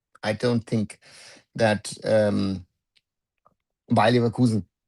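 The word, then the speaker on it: Leverkusen: So I don't think that um Bakusen or Bayulkusen if you want to say it properly that Bay and Nulia is doing bad for themselves.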